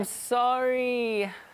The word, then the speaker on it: sorry: 이거 I'm sorry 할 때는 이 아 발음을 더 굴려보세요. I'm sorry.